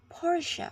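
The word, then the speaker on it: Porsche: this one's for you the luxury car brand Porche is pronounced Porche on both sides of the Atlantic with the stress on the first syllable next we have heres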